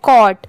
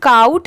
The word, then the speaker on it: caught: ये है clever, CLEVER clever, GET gate, ये है कॉट, CAUGHT इसे काउट नहीं पढ़ेंगे, बहुत सारे लोग इसे गलत भी प्रोनाउंस करते हैं बट इसकी प्रोनाउंसिएशन क्या है कॉट, ठीक है कॉट।